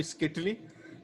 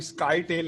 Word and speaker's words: scytale: तो इसका प्रोनाउंसिएशन है स्किटली, ये स्काई टेल नहीं है, स्किटली है आपके पास, इटालियन से मिलता जुलता वर्ड है।